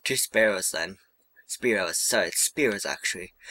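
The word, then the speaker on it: Spearow: you have three of those spearos there I said it right that time so how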